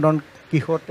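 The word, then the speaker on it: Don Quixote: ഡോൺ കിക്സോട്ട് എന്ന് നമ്മൾ പറയുന്ന ഡോൺ കിഹോട്ടെ എന്ന് മറ്റാണ് എൻ്റെ ഉച്ചാരണം.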